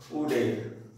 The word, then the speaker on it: would: এখানে উড, এখানে দেখো উডের WOULD, এখানে ছোট ছেলে মেয়েরা যারা কম বয়সের বাচ্চা তারা উডকে অথবা কুডকে কুল্ড অথবা উল্ড বলে। এটা বাচ্চাদের বলে দিতে হবে কি এখানে এরটা সাইলেন্ট আছে, এখানে এরটা সাইলেন্ট,